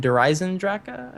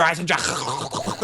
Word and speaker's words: Eisendrache: Have you seen people be like the Eisendrache? I'm like, what is this person doing right now? I mean, like, let's think about it. Like, that's how you pronounce it in German, sure, but I mean, I